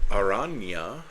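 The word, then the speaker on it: Araña: Aranya, I'm fairly certain that the tilde means you just kind of put a Y sound at the end of the letter. Aranya, Heart of the Spider.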